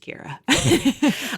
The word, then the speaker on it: Ceara: But if I'm going to have repeat interactions, I've I've tried to get good at saying, and my name is pronounced Kira.